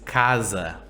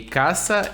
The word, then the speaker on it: casa: An S between vowels sounds like Z. The word to remember is casa, Casa.